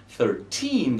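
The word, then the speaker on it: thirteen: 13, the stress is on the second sound, and that's true for 14 and all around.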